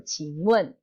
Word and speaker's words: 请问: Please itu ada di sini, ada di Qing. Wen. Wen ini artinya adalah bertanya. Jadi Qing Wen. Tolong saya mau tanya gitu. Maksudnya saya boleh nanya nggak gitu. Qing Wen.